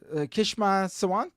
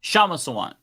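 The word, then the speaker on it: Kshama Sawant: Kishma Sawant, or how do you say her first name? Shama Sawant.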